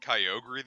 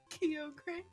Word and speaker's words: Kyogre: I'm like whoa dude someone of my group called it Calgary the other day and I wanted to across the face like this is not hard it's Kyogre I'm like yeah I